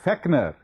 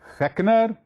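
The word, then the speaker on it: Fechner: f e c n it's also pronounced by some people as feckner it doesn't matter which way you pronounce in this case both are correct you can pronounce it as feckner some Americans pronounced is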